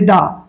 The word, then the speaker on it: the: হবে দা দ্বিতীয় ওয়ার্ডের প্রথম বর্ণ যদি ভাওয়েল হয় উচ্চারণ হবে একদম সিম্পল